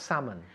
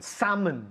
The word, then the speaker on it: salmon: repeat in English listen salmon salmon salmon can you hear any l no no there's no l salmon salmon it's written with an L but we pronounce it without so okay did you